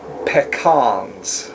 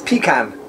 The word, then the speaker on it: pecan: Up in the north, which Ohio is part of, we call them pecans. Pecans. Oh, yeah, pecan. I've heard that on television. It's pecan. Pecan. Down south, it's pronounced pecan.